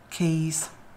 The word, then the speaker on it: Caius: what about Magdalene maudlin and caius keys weird language English isn't